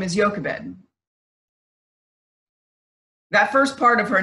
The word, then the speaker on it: Jochebed: this mother's name is Jochebed. That first part of her name, the part that says Yo, in English it's a J-O, but it's pronounced Yo, is actually part of the Hebrew name for God.